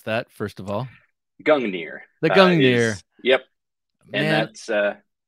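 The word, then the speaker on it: Gungnir: i said right up front um the the gangneer how do you pronounce that first of all gungner the gang gear and that's this beautiful hefty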